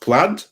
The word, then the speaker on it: plaid: new version of that uh no is it pronounced plaid yeah why the hell is i in it